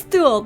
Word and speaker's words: Thul: It is Thul!